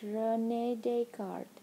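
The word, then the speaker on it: René Descartes: a French name his name was Rene deart pronounced Rene deart this may sound like a funny name to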